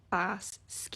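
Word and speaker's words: Basgiath: pronounces Bez gath but if you pronouncing it like a g speaker You' say bass SK it's actually two words bass which means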